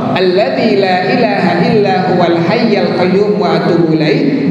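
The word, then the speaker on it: الحي: illa huwal hayyul Qayyum di pajaknya tidak kuat haiyyu tetapi dibacanya huwal hayyul Qayyum wa atubu ilaihi Hai kalau dalam tanya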